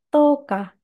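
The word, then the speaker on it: 十日: Lalu satu lagi, to'o digabungkan dengan kanji hari menjadi toka.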